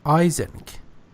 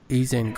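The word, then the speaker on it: Eysenck: name that you mispronounced it's Hans Isaac not easing I think he said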